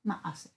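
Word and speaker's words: מעשה: Det är bara för uttalets skull. Ma-a-se.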